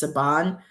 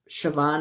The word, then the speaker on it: Siobhan: You know, the way it's spelled in in Gaelic is it looks like it's Sabon or whatever, but it's um Siobhan and her last name is Walking Stick.